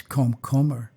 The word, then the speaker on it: komkommer: And they all laughed, because in Dutch, the word is komkommer, not komkommer, like cucumber. It's komkommer. And so it was obvious that I wasn't a native Dutch speaker.